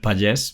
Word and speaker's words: Pagés: correctly it's although I I also accept Pages because I has a kind of a Catalan and French uh uh background I guess so that's how you would pronounce it in in French or in Catalan so but yes it's